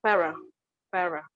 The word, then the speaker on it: pharaoh: uh you can say how to pronounce it is fairer okay second one is